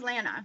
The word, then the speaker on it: Leena: My name is Leena.